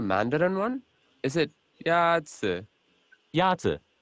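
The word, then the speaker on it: 鸭子: Yazi is pronounced with a first tone. In Mandarin, there are four tones, which are essential to distinguish the meaning of words. The first tone is a high-level tone.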